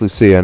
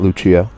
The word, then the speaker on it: Lucia: Oh, it's pronounced Lucia, not Luchia.